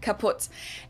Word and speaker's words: kaputt: We spell it with two T's in Germany, but we pronounce it the same way, kaputt.